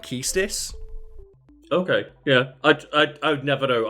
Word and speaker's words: Quistis: I don't think anyone knows how to pronounce it, because I've always said Quistis, because I played the game when I was like 7. Mm-hmm. But apparently the official pronunciation is like Keistis.